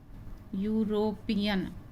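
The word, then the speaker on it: European: इसका उच्चारण हो रहा है यू से, यूरोपियन। तो यहाँ पे यू का उच्चारण यू है, इसलिए इसमें ए का प्रयोग आएगा, एन का प्रयोग नहीं आएगा। बच्चे यहाँ गड़बड़ करते हैं कि ई से प्रारंभ है इसलिए एन भर देंगे, तो ये नहीं है। यहाँ पे ई साइलेंट है और यू का उच्चारण यू होता है।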